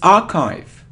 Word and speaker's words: archive: difficult it isn't archief it isn't archief it is an archive it's archive archive archive so really it's very surprising so archive archive so not not Archie archive it isn't data no